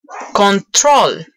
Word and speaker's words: control: Cuando son dos sílabas, también, por ejemplo, control. Control tiene dos sílabas, control. Y el acento está en la última sílaba, control.